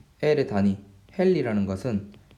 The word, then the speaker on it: 헨리: H 이렇게 쓰고, 얘는 헨리라고 읽습니다. 헨리라고 읽습니다.